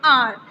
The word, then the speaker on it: hour: Because here the correct pronunciation of this word HOUR is R. H is completely silent here.